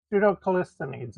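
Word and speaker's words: Pseudo-Callisthenes: Pseudo Callisthenes is how I pronounce it.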